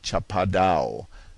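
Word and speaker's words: Chapada: It is the kind of country known to the Brazilians as Chapado, pronounced almost as if it were a French word and spelled s h a p a d o n.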